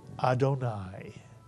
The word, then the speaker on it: Adonai: Kamatz and a yud at the end of a word is pronounced I, and therefore this word is pronounced in its entirety, Adonai.